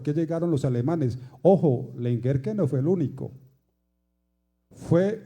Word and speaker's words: Lengerke: las muchas versiones que lengerke se pronuncia lengerke con el acento inicial ellos no eran los